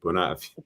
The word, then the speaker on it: Bunnahabhain: No, there's no H. You drop the H. It's just Bunnahabhain. The H. Drop the H. Okay, Bunnahabhain.